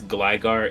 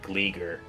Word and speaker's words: Gligar: But I do know that it's Gligar, it's not Gleeger.